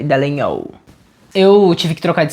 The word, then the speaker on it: Dallagnol: É muito chique, se escreve Dallagnol, mas se fala Dallagnol, como se tivesse um NHOL, Dallagnol.